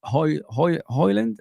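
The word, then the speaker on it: Højlund: I don't want another Nunes on the or the equivalent of Hoyland.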